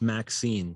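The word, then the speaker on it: MXene: do we pronounce it m zine mx in they said it's pronounced maxine or magazine like the female name maxine oh gotcha thank you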